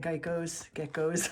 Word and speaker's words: geckos: Geckos. I always say it wrong, say Geico like the insurance company.